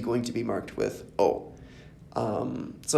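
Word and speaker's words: を: is new is whoa it's usually just pronounced Oh even though it's written with a W in O most of the time has just said o but it always comes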